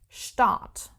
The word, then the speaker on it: Start: starting with st and in this case the pronunciation is not like in English like let's take the word start which in German is the same word but pronounced start start start and this is the case only because the word is starting with the St if we have St